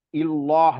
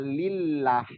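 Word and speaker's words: الله: kalau dia diawali dengan fathah Allah itu tebal atau tafkim Allah ada dari kasrh ke Allah itu juga tebal tapi kalau yang dari e dari kasrh kalau domah fathah dia hasilnya tebal untuk pelafalan nama Allah ya penyebutan Allah atau harfun jalalah tebal kalau dari fathah atau dah tapi kalau dari kasrh tipis jadi ada juga kita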